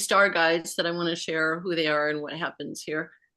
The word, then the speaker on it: Tosha: But anyway, so that's the Tosha, and it looks like Tosha, but it's pronounced Tosha. The accent, like yours, is one of the interesting layered names. I call it layered. But when you say Tosha with the accent on the end, it's in Lakota, it's a vibration for a ceremonial color of violet.